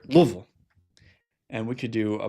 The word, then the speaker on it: Louisville: I live in Louisville or as the locals say here, Louisville and we could do a bourbon tour there.